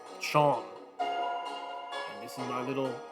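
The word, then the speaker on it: Seam: The name's Seem, pronounced Chom.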